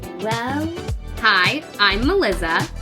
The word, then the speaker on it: Melizza: Well, hi, I'm Melizza. It's spelled just like Melissa, but with 2 Z's and obviously the Z sound.